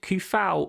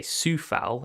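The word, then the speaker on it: Coufal: the obvious one but he he's out injured kufao or sorry i say i should say sufal is the correct way to pronounce it apparently um he's been getting forward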